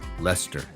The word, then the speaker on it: Leicester: everything weird like like it looks like a leicestershire but it's lester or it's uh you